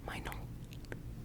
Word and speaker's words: Meinl: I want to say you pronounce it the German way. Meinl. Meinl. Meinl, yeah.